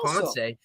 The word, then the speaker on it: Ponce: on her social media she puts it p-o-n-s-a-y so you're you're 100 correct it is ponce everybody calls him ponce so that's what i